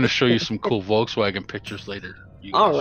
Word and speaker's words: Volkswagen: need to at least say it like the Germans do it's not a Volkswagen it's a Volkswagen yeah far fug Nan